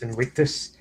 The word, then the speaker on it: Invictus: stuff from in Invictus Invictus I think the v in Latin is pronounced the W in winess Productions um the Marco